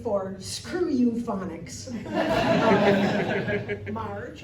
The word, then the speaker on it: Marge: for screw you phics Marge of course rhymes with large and in charge tonight I am not